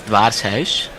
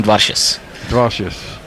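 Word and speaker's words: Dwarshuis: call him dous yeah if you want to pronounce him the it's Dar house but they call him dares dous yes just call him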